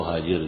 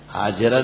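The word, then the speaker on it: هاجر: ابراہیم علیہ السلام کو حاجر دی. حاجر تلفظ صحیح کر لو اپنا، حاجرہ نہیں کہا کرو.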